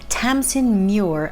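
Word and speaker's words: Tamsyn Muir: be Harrow the Ninth by Tamson Mure. I was reliably informed that that's how you pronounce the author's name, so I definitely butchered it not once, but twice last month.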